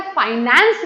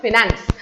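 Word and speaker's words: finance: तो ये बेटा फाइनेंस नहीं होता है, इट्स ऑलवेज कॉल्ड फिनेंस।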